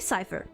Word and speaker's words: Cipher: Um Si is it pronounced Cipher? So you've heard of me but few call me by that name these days. Call me Cipher.